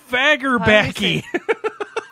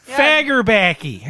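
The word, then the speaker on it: Fagerbakke: It's Bill Fagerbacky. I think you actually said it right. I was good. Fagerbacky.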